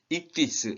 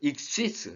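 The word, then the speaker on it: ἰχθύς: 여기 지금 익시스 또는 익디스 이렇게 하거든요. 저는 그 익시스 쌍시옷 발음으로 그 세타를 쌍시옷 발음으로 저는 발음을 하거든요.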